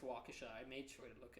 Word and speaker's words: Waukesha: I think it's Waukesha. I mispronounced it when I was talking to you about it. I'm pretty sure it's Waukesha.